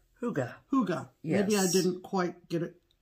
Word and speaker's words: hygge: And this is how it is pronounced. Hygge.